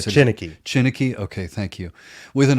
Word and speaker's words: Chineke: You need to help me with this orchestra again because I always mispronounce it. Chineke.